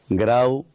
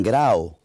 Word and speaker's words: Grau: El vocalismo occidental, aunque la norma nos manda a escribir U, pues no decimos Grau ni Grao, decimos Grau. Más U que O, pero la gente cuando